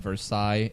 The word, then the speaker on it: Versailles: I knew how to pronounce it from the get-go because that's the exact same thing as the city of Versailles in France. Versailles. So, Ratatouille, Versailles. Ratatouille. Versailles. You don't pronounce the double L.